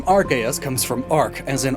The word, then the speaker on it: Arceus: And it's these root words that make my preferred pronunciation Arceus. Even though if I was being 100% accurate to the root words, it would be Arceus. But my preferred pronunciation balances that out with what the anime has said.